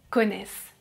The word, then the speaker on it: connaissent: vous connaissez, ils, elles connaissent Be careful, I don't pronounce the final letters "ent" Let's move on to